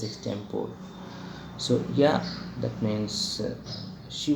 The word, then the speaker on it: extempore: My class teacher said the same thing, that the exact pronunciation is extempore.